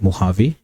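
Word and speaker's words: Mojave: Desert हैं, वो है मोहावे। ये स्पेलिंग इसकी मुजावे रहती है बट इसको प्रोनाउंस मोहावे किया जाता है।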